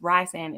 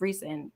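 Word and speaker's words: Rhysand: resand or right like people are like it's rye sand it's recent reese what like how do you say his name people didn't know that for how long and i was just like it's reese's like reese's pieces that's how she said it in an interview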